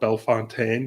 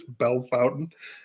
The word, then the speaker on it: Bellefontaine: I said, if you watch the episode, I call it Bellefontaine because I thought, of course, this looks like a French word. It's going to have French pronunciation. And I was immediately corrected. It's Bellefontaine. So I might go to